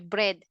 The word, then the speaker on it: bread: Tapos, sa pronunciation, kunwari, sinabi bread, pero siya pa rin bed ng bed. So, uulitin niyo po yun, bread.